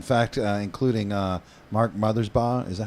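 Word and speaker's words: Mothersbaugh: those pieces in fact uh including uh Mark mothers ba is that how you say it mothers ba you got it buddy uh from dvo so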